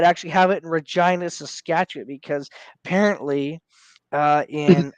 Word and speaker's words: Regina: name a Reina yeah no it is it's Regina uh you know I know it's a real town but like as an Australian I'm just like who freaking hell would name their Town Regina rhymes with well there's Saskatoon like